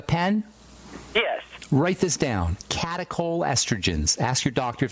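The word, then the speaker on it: catechol: you got a pen yes write this down catacol estrogens ask your doctor if they know about those and I'll spell that CAC catacol c a t e c h o catacol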